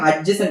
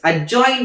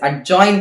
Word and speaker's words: adjoint: So now I have to give the adjacent of A. Actually, it is not pronounced as adjacent of A. It is pronounced as adjoint of A. Sorry, not adjacent. It is adjoint of A.